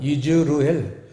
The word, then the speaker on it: 이즈르엘: 칠판에 보시듯이 이스라엘은 이즈르엘이에요. 발음은 이즈르엘.